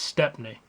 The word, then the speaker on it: Stepney: But when you look at it and you read it and you think about it, it's Stepney.